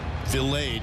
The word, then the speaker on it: Vilade: Vilade is actually the pronunciation.